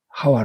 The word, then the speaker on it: 하와: 하 1 똑같은 말입니다 이것은 히 북이 예 하와 라는 것은 10 우리 발음으로 어 하 봐 아 예 본래 발음이